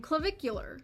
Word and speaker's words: Clavicular: That looksmaxer is none other than Clavicular. Clavicular is a Gen Z That's how you pronounce his name.